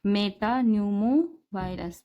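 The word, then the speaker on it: metapneumovirus: human यानी मनुष्य आदमी Meta Numa virus P silent है और या और यानी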